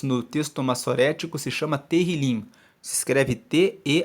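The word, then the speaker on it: Tehilim: O livro de Salmos, no texto massorético, se chama Terrilim. Se escreve T-E-H-I-L-I-M.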